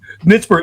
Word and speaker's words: Nitzberg: Yeah, you even pronounced my name right, which is not a given. Nitzburg, I know, I took a shot.